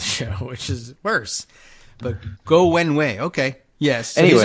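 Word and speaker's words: Guo Wengui: I've always said Go Wengi because that's how the way it's written in English. Go Wenwei is how it's pronounced.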